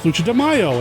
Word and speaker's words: Lucha de Mayo: guess you could say this month because it's lucha demaio and see i'm saying it right see i